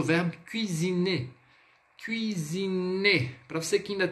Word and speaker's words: cuisiner: a pronúncia do U, lembre-se, a letra U no francês nada mais é do que o som de I com um biquinho. Então é U, d'accord?